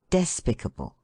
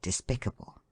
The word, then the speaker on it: despicable: Words that end in le usually have the accent on the first syllable, as amicable, despicable, etc., although we have heard people say despicable.